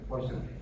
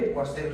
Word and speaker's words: Poiseuille: Ya, ahí está, Poiseuille. Bien, esta se llama la ley de Poiseuille, ¿sí? He oído que se pronuncia así, ley de Poiseuille, ya porque es un francés, algo así, ¿ya?